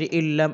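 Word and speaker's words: إِلَّا: আলিফ লাম সের ইল্লাম আলিফ সাবুল্লা এক আলিফ টানতে হবে, জবরের বাম পাশে খালি আলিফ এজন্য ইল্লা।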